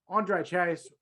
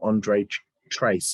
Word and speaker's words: Andre Chase: And I will be updating your strikes now to a 2.85 for mispronouncing his name and calling him Andre Trace.